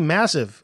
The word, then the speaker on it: MASV: And those friends call themselves MASV Massive. Yeah, that's how it's spelled.